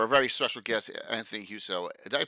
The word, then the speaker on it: Huso: a special for a very special guest Anthony huso did I pronounce that correctly huso that's right okay very nice to meet you